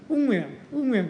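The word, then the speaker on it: Nguyễn: 베트남인 발음을. 응우엔 이렇게 발음하더라고요.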